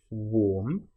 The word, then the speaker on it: warm: Now, warm and charm, you'll notice both have the same a r m in them, but one is pronounced warm. So, it's the o sound, the o r sound, and the next is a r sound.